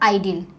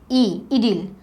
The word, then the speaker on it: idyll: Okay, not आइडिल, इडिल. आई का pronunciation आइडिल हम लोग ई प्रोनाउंस करते right as a vowel. So this we are going to read इडिल.